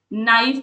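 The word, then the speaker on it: knife: Walk नाइफ में के silent होता है और रिसीट।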